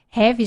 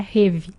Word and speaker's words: Rêve: REV, gente, vem de sonho, sonhar em francês. Por isso que essa pronúncia é diferente mesmo, não é rêve, né?